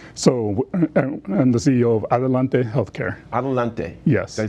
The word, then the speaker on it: Adelante: And I want you to pronounce the name because I am not good at pronouncing names. So I'm the CEO of Adelante Healthcare. Adelante. Yes. Did I say it right? Yes. Adelante.